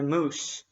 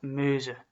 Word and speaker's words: Meuse: Namen, Namur, by the moose, which is not a reference to the animal, It's just a river. In fact, I think it's supposed to be pronounced Meuse, but that's not as funny, is it?